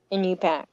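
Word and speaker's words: Iñupiaq: Inupiaq. It's a What? Nana Corporation. How do you say that again? Inupiaq.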